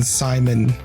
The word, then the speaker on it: Simon: I still think about the fact that we pronounce the main character's name as Simone, even though it's clearly Simon.